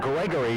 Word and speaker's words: Gregory: I want to pronounce that name right. There's been some controversy about that name and our mispronunciation of the name. It's Gregory, number 77.